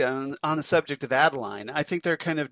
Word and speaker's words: Adeline: I think that Adelaide, is I say it right? Adeline, yeah.